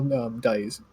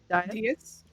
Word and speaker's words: dais: And then you're sitting almost at the base, or in the center, of like a small dais. D-A-I-S. How do you pronounce it? Dias? Dias? Dice, like diocese.